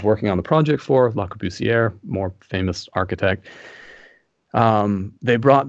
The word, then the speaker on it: Le Corbusier: How do you say that, Ksenia? Le Corbusier? That's what I said. That's basically it. Corbusier. I just didn't add all the.